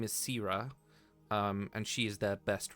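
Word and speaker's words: Syra: Her name is Sira, and she is their best runner. Okay. Can you spell that for me?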